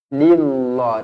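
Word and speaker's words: لله: hurufnya adalah berbaris bawah jadi jangan baca ill lillah Tak nak kalau baris bawah nipis nipis macam mana bacaan dia lillah lillah okey dua harakat dekat sini Bacanya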